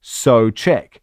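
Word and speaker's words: Souček: Thomas Soek, last name is pronounced so check. An easy way of remembering it. Apparently, they don't use the U sound when pronouncing his surname.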